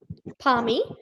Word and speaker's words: Parmi: Palmy, P-A-R-M-I. Thank you. Now, what pronounce it?